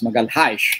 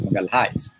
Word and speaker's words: Magalhães: Of course, Magalhães, as the Portuguese would pronounce it, but of course, to most of us would pronounce Magalhães.